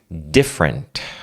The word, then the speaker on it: different: Ó, cuidado para não falar different. Tem gente que fala different. Vamos pronunciar essa palavra comigo. Different. Different. O di, você não fala different. Di. Não é di igual no português. É different. D. Esse di é d.